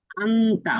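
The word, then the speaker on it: أنت: অথচ এই শব্দ কোরনে পড়তে গেলে উচ্চারণ হবে ইফা হিসেবে আংতা অনুসার দিয়ে উচ্চারণ হবে কোরআনে পড়তে গেলে কি হবে বলেন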